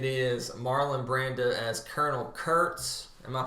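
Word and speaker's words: Kurtz: Ford Copa it is Marlon Brando as Colonel Curts am I pronouncing that correctly you are Jerry you are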